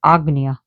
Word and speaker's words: Ajna: So you have the third eye, but it's spelled Ajna, but it's pronounced Agna.